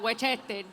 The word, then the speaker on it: Westchester: You have to say it like that, Westchester.